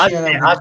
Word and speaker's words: Aceh: How is it in South Aka? Is that how you pronounce it? South Asia, I think. South Asia. Aceh is the province in Indonesia.